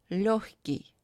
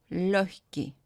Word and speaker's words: легкий: Combination of letters G and K, sometimes pronounced as хк. For example, легкий, легкий. And combination of letters L, N, pronounced as N, солнце, солнце.